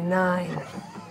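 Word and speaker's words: Nein: fucks with the Mighty Nine. You see, it's like three of them are like quietly under their breath. But spelled like N-E-I-N, the Mighty Nine.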